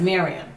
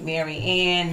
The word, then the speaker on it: Miriam: a million dollars so my name is miriam but people always call me mary ann miriam mary and i really don't like being addressed as married so if you're gonna say my name please say it correctly i'm not i'm gonna correct you but it's in my head i'm like it's not very end so right so i